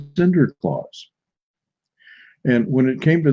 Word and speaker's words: Sinterklaas: And in Holland, in the Dutch language, it is pronounced Sinterklaas.